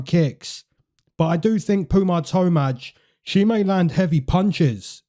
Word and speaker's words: Tomar: Her name is actually PUJA TOMAR. It's not Tomaj. It's TOMAR, which is kind of funny, but I'm just going to keep the breakdown.